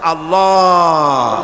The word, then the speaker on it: আল্লাহ: পাকের নামের উচ্চারণ হচ্ছে আল্লাহ মুখটা একটু গোল হয়ে যাবে বলেন আল্লাহ আল্লাহ পৃথিবীতে বিভিন্ন জাতি